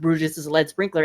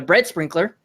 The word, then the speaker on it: Brutus' Lead Sprinkler: And because me being me, I mispronounced Brutus' lead sprinkler and I said I called it a bread sprinkler.